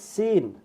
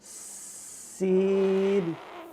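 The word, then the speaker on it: سين: মাশাআল্লাহ পরের হরফ হচ্ছে সিন সিন সিন জিহ্বাটা উপরে এখানে আসবে না জিহ্বাটা নিচে থাকবে সিন ওকে আমরা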